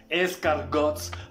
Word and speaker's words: escargot: Y no es crepes, croissants, papas a la francesas, escargots. Primero que nada de eso se pronuncia así. O sea, se dice croissant, crepe, escargot.